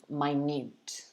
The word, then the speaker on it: minute: one to practice but there is another pronunciation of the same spelling which is actually an adjective as you can see here we pronounce it minute minute so i'm wondering whether